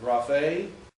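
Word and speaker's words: γραφή: Like graphe, last syllable.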